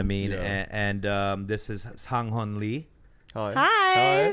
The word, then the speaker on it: Sang Heon Lee: So my name is Sang Heon Lee. Mm-hmm. Or you can say in Korean it's Lee Sang Heon. It's not Sang.